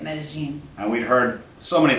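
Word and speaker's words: Medellín: Say it like you're from there. That's how the locals say it, Medellin.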